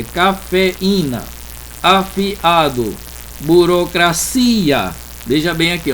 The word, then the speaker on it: cafeína: Então, moído, chiado, baú, lagoa, teatro, soar, cafeína, não é cafeína, é cafeína, afiado, burocracia.